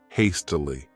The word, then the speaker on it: hastily: This word has 3 syllables, and the stress is on that first syllable, hastily.